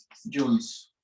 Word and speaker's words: joule: Las unidades del trabajo, sus unidades son los joules. Bueno, ya saben eso. Esto se pronuncia Y, este diptongo es U, esto es L y la E es muda. Entonces, por eso es joule.